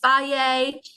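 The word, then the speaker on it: Fage: other yogurt brands are faye which is spelled f-a-g-e or ciggies um again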